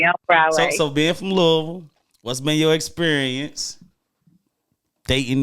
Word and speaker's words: Louisville: Louisville. Louisville, yeah, right?